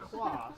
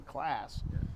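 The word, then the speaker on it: Claas: Yeah, because I knew from the last time I was here that you guys say class. But That's spelled differently. Yeah. Class would be a double S. That's Yeah, double A. a double AS. Yeah. Yeah. Kloss. Yeah. Yeah, Class. C-L-A-A-S. Yeah. Class. Class. Long A.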